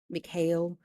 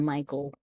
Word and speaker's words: Mikhail: out Mikhail instead of Michael.